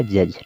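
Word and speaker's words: judge: ई बच रहा है यहां पर देखिए तो जी इ से ज हो गया तो हो गया जज ठीक है यहां पर जो लास्ट में ई है ई को हमें नहीं पढ़ना हमने बताया है कई बार कि जब वर्ड के अंत में ज्यादातर ई आए तो हम ज्यादातर ई को नहीं पढ़ते हैं य हमेशा साइलेंट रहता है तो जज हो गया ठीक उसी तरह से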